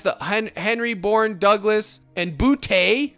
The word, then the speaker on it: Boutte: And then, so you're playing roulette with these three guys, the Henry, Bourne, Douglas, and Boutte. Let's call him Boot. I know that's not how you say it, comment guy.